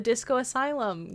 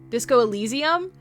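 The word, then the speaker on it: Disco Elysium: World Singer bought me uh the Disco Asylum game. I think I'm mispronouncing it. It's Disco Disco Allesium.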